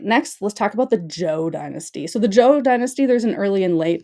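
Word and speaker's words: Zhou: So, the Joe period, again, I know it starts with a Z, but it's pronounced Joe.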